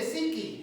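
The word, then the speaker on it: ψυχή: En griego se dice psiqui, ¿verdad? Siskis, ¿verdad? Se escribe siskis, psiqui, creo que sí.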